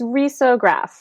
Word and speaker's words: risograph: Yeah, so it's risograph. Risograph. Okay. Although everyone says it differently. I don't know that there's really a right way, but I think that's technically the right way.